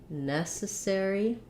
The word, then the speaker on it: necessary: and necessity so for necessary we have first syllable stress it sounds like uh necessary and then for necessarily